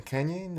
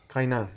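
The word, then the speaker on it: Kaynan: I don't know how to say his name, Canyon? Or how you Kainan.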